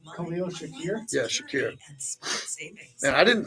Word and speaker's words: Khalil Shakir: Raheel Shakir got a contract extension. Yeah. Say his name. Say his name. Khalil Shakir?